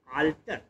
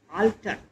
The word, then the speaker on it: altar: Homophones वो words होते हैं जो प्रोनाउंसिएशन में एक जैसे ही होते हैं, जैसे आल्टर, ALTAR, आल्टर, आल्टर माने Bedi. The bread is kept on द आल्टर, दूसरा शब्द है अल्टर, ALTER, अल्टर माने उसका कोई विकल्प।